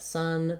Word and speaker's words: son: word son is that son, the name for your male child, and sun, the sun in the sky, have the same pronunciation.